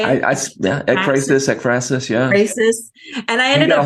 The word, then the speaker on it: ekphrasis: Apraxis. Is that how you say it? Ekphrasis, Ekphrasis.